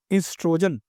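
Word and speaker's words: oestrogen: स्ता है एस्ट्रोजन ब स्पेलिंग चा शुरू ओ से शुरू हु है ओ से पर ये है क्या इसको पढ़ते क्या इसको पढ़ते हैं इस्टोन पते इसको पढ़ते हैं एस्ट्रोजन क्लियर है ब बेटा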